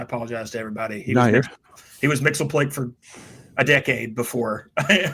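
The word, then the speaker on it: Mxyzptlk: That story ends with Superman willingly killing Mixius Pitlick. Sorry. I started with Super Friends. I apologize to everybody. He was Mixelplick for a decade before I heard it pronounced the other way.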